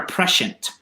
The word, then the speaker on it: prescient: Is it prescient or prescient? Prescient. Okay. Yeah, the I makes an E sound.